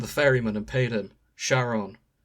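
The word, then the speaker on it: Charon: Sharon. Karen? Like, Dante cannot pronounce it either. Karen.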